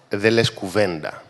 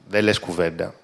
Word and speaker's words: Δε λες κουβέντα: And it rhymes with Documenta. Deles Κουβέντα means hush hush, or don't say a word, or you don't say a word.